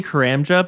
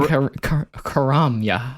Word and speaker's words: Karamja: I usually say Karamja, but people are like, you're not pronouncing it properly. And I was like, you know what? Fine, I'll pronounce. You want to hear me pronounce it properly? It's Karamja. Why are you saying Karamya? Are you not supposed to pronounce the J? I'm pretty sure the J, for if someone was native from Karamya, the J would be silent.